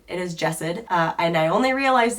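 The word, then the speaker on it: Jasad: this book series as well as the author's name wrong in the last few vlogs. So, it is not Jazan, it is Jessid.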